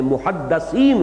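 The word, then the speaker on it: مُحَدِّث: رسول کی امت میں محدثین ہوتے ہیں۔ اس لفظ کو اچھی طرح صحیح تلفظ کے ساتھ سمجھ لیجئے، محدث دال کے زیر کے ساتھ، وہ تو وہ علماء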